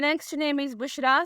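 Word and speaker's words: Bushra: है बहिश्त और जन्नत the next name is बुशरा spelling है बी यू एस एच आर ए बुशरा नाम के मानी है खुशखबरी नाम है लारे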